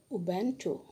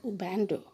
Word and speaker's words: Ubuntu: Africans have something called Ubuntu. Ubuntu. Have you seen the word, children? U-B-U-N-T-U. Ubuntu. That's the correct pronunciation.